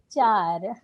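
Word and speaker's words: चार: 4 se dice char.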